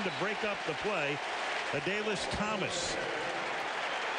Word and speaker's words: Adalius: Thomas took the extra syllable out of his name. He's now emerging, and he finally went to the Ravens PR guys. He said, I'm not Adalius anymore. I'm Adalius Thomas.